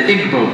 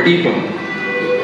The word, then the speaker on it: Igbo: You have the Igbo people, or Igbo, pronounced either way.